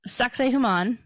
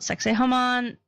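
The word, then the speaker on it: Sacsayhuamán: It's Sacsayhuaman. There's a lot of different variations on that pronunciation. That is the one from National Geographic. There are other people that call it Sacsayhuaman, Sacsayhuaman.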